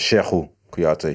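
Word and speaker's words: Cheikhou Kouyaté: We pronounce it Sheku Kouyaté.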